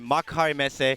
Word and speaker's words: Makuhari Messe: We are at Makuhari Messe. Good job pronouncing that, by the way.